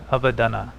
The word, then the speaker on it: Avadhana: Avadhana, actually, because of the short syllable A. Avadhana.